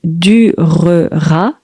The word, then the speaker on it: durera: révolution durera 10 ans ça s'écrit durera mais quand on parle on dit durera donc cette révolution durera